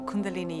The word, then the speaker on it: Kundalini: fees and I do Kundalini Yoga it's very often I say it rhymes with Linguini just because lots of